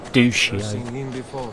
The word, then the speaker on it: Duccio: But she mispronounced his name. She pronounced it as Duccio. I'm pretty sure it's Duccio, as you'll see in a second.